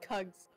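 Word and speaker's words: Kuggs: I forgot Eagles dyslexia because Eagles spelled my name wrong what it's called kugs I don't know what it is but how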